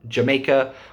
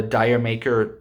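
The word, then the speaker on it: D'yer Mak'er: like other stuff um jamaica or dyer maker if you don't know how to pronounce it it's pronounced jamaica um but it's spelt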